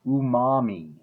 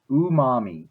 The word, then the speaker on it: umami: but then we have this Japanese word and I think it's pronounced umami umami it basically means delicious